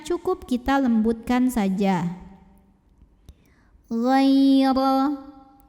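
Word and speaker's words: غَيْرَ: Ghaira. Huruf ra dibunyikan secara tafkhim karena barisnya di atas. Maka cara bacanya tebal, pangkal lidah kita angkat.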